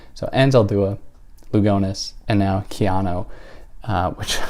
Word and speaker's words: Lugones: am a clown uh that's how people in in Spain would might pronounce her name or in other parts of the world but not how she herself would have pronounced her own name so anela lugones and